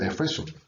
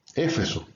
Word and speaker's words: Efeso: Entonces ya han notado que yo siempre digo Efeso, aunque en la mayoría de los textos se escribe Éfeso, pero en la Reina Valera de 60, que es la que usamos mayormente, se escribe sin la tilde, la E, o sea, no es una palabra esdrújula, sino llana.